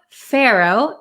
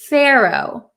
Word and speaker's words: pharaoh: Um, but we pronounce it in American English as pharaoh. Pharaoh. So, it's a little tricky. The PH sounds like an F, but we don't write the letter F.